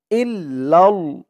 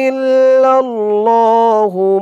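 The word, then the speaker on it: إلا الله: আলিফ টান খাড়া জবর ইলাহ হা লা ইলাহা ইল্লাল হামজা দিয়ে এ লাম ধরবে হামজা লামের ইল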